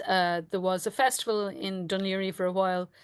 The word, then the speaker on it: Dún Laoghaire: You've given us a wonderful pronunciation of Dunleary, which is absolutely not spelled that way, but that's the Irish word for it. That's the Irish name for this I, area.